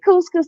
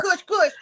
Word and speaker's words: couscous: And so then the lady said, couscous. I said, yes. So that was on me, but I had never have mispronounced it what you say? before. Kush, kush. I don't know whatever I said. I didn't say couscous. Was a cuss, cuss.